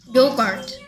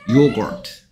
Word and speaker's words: yogurt: Yogurt. Yogurt. 요구라고 하는 이유는 일본 사람들이 유를 우라고 생각하기 때문이야. 이건 일본 사람들 발음이야. 요구르트는. 우리는 요구르트라고 발음할 수 있어.